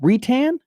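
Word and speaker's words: Reitan: Retan, I believe you got it correct.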